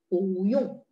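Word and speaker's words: 不用: BU-nya baca nada dua. Karena yung adalah nada empat. Ya. Benar, pu itu nada empat aslinya. Tapi karena dia gabung dengan huruf yang nada empat, supaya nggak terlalu kaku pas baca, ada ketentuan pu-nya harus berubah jadi nada dua.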